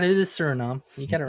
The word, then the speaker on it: Suriname: The Suriname Toad, Suriname. I know how to spell Suriname. Well, some people may not. I may have been pronouncing it wrong. Who knows? No, you're right. It is Suriname.